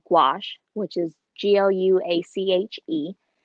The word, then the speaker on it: gouache: I use is called gouache which is Glu ACH II and it sounds a lot like squash so I was walking